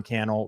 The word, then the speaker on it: Cannell: My name is Sean Cannell, rhymes with YouTube channel.